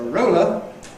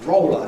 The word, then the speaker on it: roller: So something with which you roll is a roller, and this then is roller in London, whereas a word like